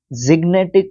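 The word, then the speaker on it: gigantic: synonym दे सकते हैं मैं इसको ग गिनेट पढ़ता हूं बट यह जिनेट होता है जिनेट ठीक है वैसे जी को ज्यादातर ग प्रोनाउंस किया जाता है बट यहां पर जिनेट है यह और यह एक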